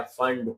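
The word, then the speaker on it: Pfund: Bracket के ऊपर आया फंड, पी साइलेंट है, ठीक है, पी फंड, P silent फंड बोलना है, और सबसे ऊपर आया हम्फ्री।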